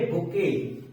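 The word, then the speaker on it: bouquet: इसका सिंबल लिखा रहेगा इसको हम क्या पढ़ेंगे इसको पढ़ेंगे बुके क्या पढ़ेंगे बुके बुके आप जान एक गुलदस्ता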